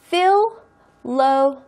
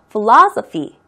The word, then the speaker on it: Philosophy: Philosophy. 다시 한번 Philosophy. 액센트는 중간에 O 있는데 가고요. Philosophy.